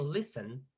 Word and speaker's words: listen: Pero resulta que listen tiene 2 sílabas. Ahora escuchen. We have list and we have ten. ¿Dónde está el acento cuando la pronuncio? Listen. Ten. Listen. Please. Al inicio, Liz. Exactly. In list. Como el acento está en la primera sílaba, ya no nos aplica